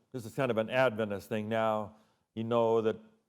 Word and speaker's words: Adventist: You pronounce Adventist, Adventist. Many non-Adventists will say Adventist. But if you're in a church, you know we're Adventist.